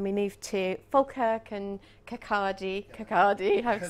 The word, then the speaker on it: Kirkcaldy: And then we moved to Falkirk and Kirkcaldy, I have to say it correctly.